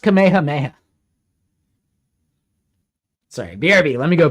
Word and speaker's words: Kamehameha: Kamehameha. It's pronounced Kamehameha.